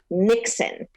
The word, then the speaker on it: Niksen: I had to set you up for that, but this Nixon is a different type of Nixon. Okay. It's a Dutch idea, right. And it's spelled Niksen.